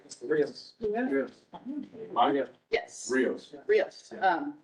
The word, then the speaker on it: Rios: I'm actually pronouncing your last name terribly since you couldn't. How do I say your last name? Rios.